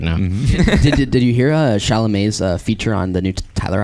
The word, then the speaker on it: Chalamet: did you hear Chalamet's feature on the new Tyler album?